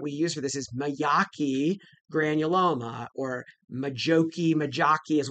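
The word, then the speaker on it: Majocchi: But I think the the proper pronunciation is myaki or at least that's how I've been taught.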